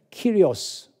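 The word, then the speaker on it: κύριος: 큐리어스 예수 cs2 q 리오스 란 말은 이제 영어로 이제 할 때는 키리 오쓰 그렇게 발음합니다 이 큐리오스 라고 하는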